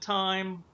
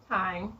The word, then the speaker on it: thyme: of garlic minced thyme is that how you pronounce it time time yes yes sprigs of fresh time you know